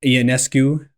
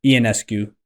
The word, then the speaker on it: Ionescu: don't know when we're recording this, when Sabrina Ionescu, I told you the wrong pronunciation when you asked me before. It's Ionescu? Yeah, Ionescu.